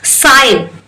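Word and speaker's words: sign: letter हो जाएगा sorry साइन एस आई एन साइन ही बोल रही हूं एस आई जी एंड नहीं मतलब मैं जी को तो प्रोनंसिएशन मैं ही नहीं ला रही हूं तो जी ही आपका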